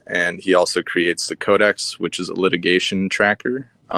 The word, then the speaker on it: COD3X: It's called the Codex. It's spelled COD3X .com, I hope.